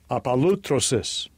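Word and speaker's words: ἀπολύτρωσις: The pronunciation in the Strong's G. Strong's G, 629, apalutrosis, apalutrosis.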